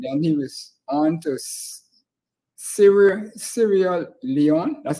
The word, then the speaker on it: Sierra Leone: And then he was on to Sierra Leone. That's how you pronounce it.